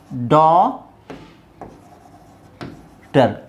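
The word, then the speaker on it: daughter: H okay so ಇದೇನಾಗುತ್ತೆ ಡಾ ಟರ್ ಡಾಟರ್ ಸೊ ಜಿ ಎಚ್ ಹಾಕಿದ್ರೆ ಜಿ ಅಂತ ನೀವು ಪ್ರೊನೌನ್ಸ್ ಮಾಡಿದ್ರೆ ಗ ಬರಬೇಕಲ್ವಾ ಡಾಟರ್ ಡಾಟರ್ ಇದೇನಾಗುತ್ತೆ ಲೈಟ್ ಗಮನಿಸಿ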